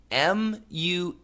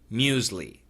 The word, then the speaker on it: muesli: Okay, Jed, the pronunciation in America is usually muesli. Muesli. And that would be like according to your spelling, I think M-U-S-E-L-I. Okay? So it's basically two syllables, muesli, muesli, muesli. Now, some Americans do say muesli, muesli, with an S sound, okay?